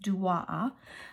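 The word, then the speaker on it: DOAA: from duwaaa inspiring designs it's spelled d-o-a-a but it's pronounced duo um she has a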